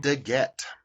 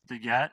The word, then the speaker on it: DeGette: Degette. Degette.